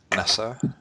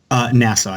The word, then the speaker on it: Nassau: So what does NY, how do you pronounce that? NASA? Nassau, yeah.